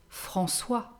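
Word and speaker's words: François: have faustin faustin faustin a mixed name is francois francois francois is the masculine version of francoise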